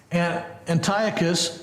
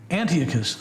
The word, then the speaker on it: Antiochus: Well, as we look at verse 6 prophesies what occurred between Ptolemy II, or Ptolemy Philadelphus, and Antiochus Theos. I go back and forth how to pronounce this word, and I think the most